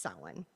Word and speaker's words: Samhain: As he said, it looks like Samhain, but is pronounced Samhain.